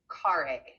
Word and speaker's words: Carre: Um, Carre, am I pronouncing your last name correctly? Yes, it's Carre.